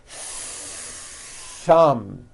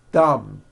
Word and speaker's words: thumb: the th sound thumb it's not good enough just to put your tongue between your teeth and say a th word like this dumb you see that my tongue came out but there was never any air friction that's not good you must stretch out the th sound and hear the air friction thumb like that let's practice some words